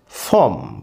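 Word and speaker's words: from: ফ্রম, ফ্রম মানে থেকে। ফ্রম, ফ্রম মানে থেকে। আরেকটা জিনিস মনে রাখতে হবে, এফ আর ও এম, এই ফ্রম মানে থেকে, এটা র এর উচ্চারণ আসবে ফ্রম, ফ্রম, ফ্রম।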